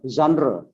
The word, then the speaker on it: genre: Or genre. This from France, French language. Word class also.